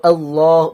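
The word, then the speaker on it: الله: তো আল্লাহ। তো এইজন্য আমরা এইজন্য সঠিক প্রোনাউন্স হচ্ছে আল্লাহ।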